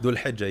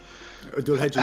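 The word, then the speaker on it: Dhul Hijjah: Strikes at the pronunciation. How do you say Dul Hilal? Dul Hijjah, yeah. Dul Hijjah, yes.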